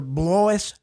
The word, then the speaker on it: Blois: And if I can be half as good a Secretary of State as my father, Blois Ziegler, it rhymes with voice.